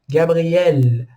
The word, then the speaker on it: Gabriel: Então, o meu nome, Gabriel, Gabriel, a última sílaba é a tônica.